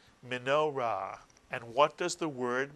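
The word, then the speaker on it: מנורה: So put the word together, and the word is minorah, mitsuyan, minorah. Two syllables, minorah.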